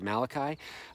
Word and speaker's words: Malachi: our relationships in fact the Prophet mulashi the Italian prophet some people pronounce it Malachi he said at the